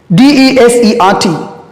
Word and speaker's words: desert: Okay, let's move to the last example I got for you is DESERT. How to pronounce this one?